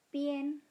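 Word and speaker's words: bian: Ketika huruf A berada di antara huruf I dan N, itu kita baca ien. Ingat ya, dibacanya ien bukan ian. Contohnya pien, kemudian mien.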